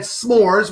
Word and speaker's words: S'mores: So shout out to my man S'mores, which rhymes with snores, who is no longer with us, but it will always be remembered.